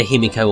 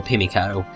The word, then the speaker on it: Himiko: her name is spelt it's either himiko or pimiko but i think kimiko is the much more accepted version likely because it sounds better but she's appeared well